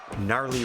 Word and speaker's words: Gnarly: That's the Gnarly Wrestling Aisle. All 3 words starting with a silent letter there, just to be silly.